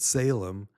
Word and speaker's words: Salem: We pronounce it Salem, but that's where King Melchizedek reigned, was in that town of Salem.